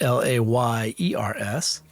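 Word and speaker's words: Lars: read that I realized it is spelled L A R S, not L A Y E R S. So, the new system for world bosses is layers as in where they live, not layers as in what is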